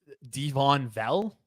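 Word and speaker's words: Devaughn Vele: I also think Devon Vell, that's how you pronounce his name.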